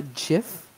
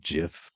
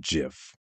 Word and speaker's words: GIF: something else it's pronounced Jif but I say gif is pronounced GIF I know it is the Creator says it's pronounced Jif it's GIF I say